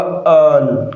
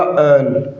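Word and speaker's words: earl: तो इसका जो प्रोनंसिएशन है करेक्ट वो क्या होगा? अल। क्या होगा? अल।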